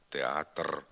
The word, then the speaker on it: театр: вір перевір прискор пришпор на кінці слова після глухого приголосного звук р знеголошується наприклад алебастр метр семестр спектр отже не треба намагатися вимовляти тут дзвінко р театр оркестр центр знеголошуйте звук р театр